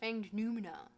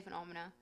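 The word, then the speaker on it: Fanged Noumena: Um read through uh fang I know it's pronounced fanged numina but I say phenomena.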